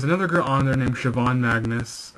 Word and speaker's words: Siobhan: There's another girl on there named Siobhan Magnus, Siobhan Magnus, because Siobhan is not spelled like how it sounds. It's got a weird spelling to it, but she does some awesome work too.